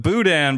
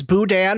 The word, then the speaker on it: boudin: good in your mind does boudin rhyme with putin it's it's the way it's said obviously you can say